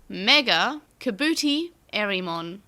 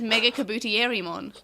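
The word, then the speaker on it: MegaKabuterimon: But never mind, that's not how they pronounce it. What did they say? Mega Kabootie Erimon.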